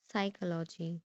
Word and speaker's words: psychology: So we pronounce this psychology.